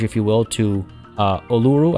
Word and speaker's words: Uluru: you will to uh uluru i've been told it's pronounced ularu um without actually you